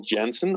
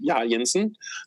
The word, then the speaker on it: Jensen: I will be transferring that blog to my personal name, Jensen, or Jensen, depending on the language you want to say my name in.